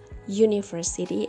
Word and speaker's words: university: This explains the reason why university is not an university but a university, because although the word university started with the vowel letter U, but it's pronounced y, university, and it's consonant.